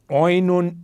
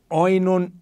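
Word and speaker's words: οἶνον: Jesus diz a ele, oinon uk echusin, vinho eles não têm. Esse oinon, daí nos vem o enólogo, né? Esse oi se pronuncia também e, então daí vem enólogo,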